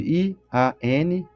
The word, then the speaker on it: Ian Stevenson: Ian, se escreve I a N Ian. Stevenson. S t E V E N S O N.